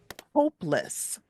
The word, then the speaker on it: hopeless: okay and for these the stress is usually on the first syllable all right so watch my mouth okay and I've got some words for you so the first word is hopeless hopeless okay see how the first part is stronger hopeless not hopeless but